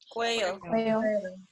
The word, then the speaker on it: cuello: Cuello. Cuello. Good. So remember that a double L is pronounced like a Y, so it's cuello.